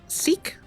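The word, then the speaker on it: Sikh: a Lahore um and i also learned that s KH is pronounced seek so hopefully i listening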